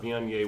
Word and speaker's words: Viognier: But you pronounce this Viognier. Viognier. Thank I you, know Vionia.